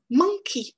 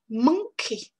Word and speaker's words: monkey: Donc, dans ce mot à 2 syllabes, vous avez une première syllabe qui est plus forte que la première. Et ça, c'est très important de bien le marquer en anglais.